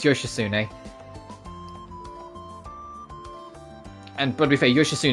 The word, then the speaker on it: Yoshitsune: It's spelled Yoshitsun, but it's Yoshitsune.